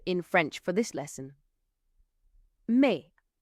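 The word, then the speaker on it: mais: May. It means bought. Me. Now, the word me is spelled M A I S, but you pronounce it as though there isn't an S on the end at all.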